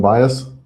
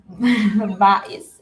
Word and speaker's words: Bais: Oh, it's not called bias? Bais, it's Bisaya. What's it mean? Bais. No, it's Bisaya because bias, and when you pronounce it, it's like English.